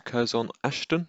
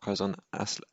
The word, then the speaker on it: Curzon Ashton: second job available but to kurzon ashton not kazan as athletic as i pronounced yesterday so coz on